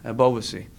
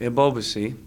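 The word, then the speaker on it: Ebobisse: run Jeremie of OBC I always pronounce it wrong a boba see that's how you pronounce it right once you get your brain wired on a pronunciation it's hard to break it a boba see who's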